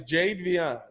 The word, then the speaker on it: Jadeveon: How do you pronounce his first name? Jadeveon. Jadeveon. Is it changed now? Jadeveon. Jadeveon. Yeah, he's Jadeveon.